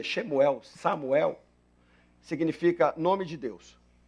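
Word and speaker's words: שמואל: você for olhar a tradução da palavra Samuel em hebraico shemuel Xel do jeito que a gente pronuncia shemuel Samuel significa nome de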